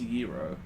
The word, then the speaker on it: gyro: I don't either wow it's technically pronounced Euro well I'm still gonna call it a gyro because it sounds cooler this thing has like an